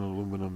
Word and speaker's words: aluminum: New tariffs on aluminum and steel, aluminium, whichever way you want to pronounce it.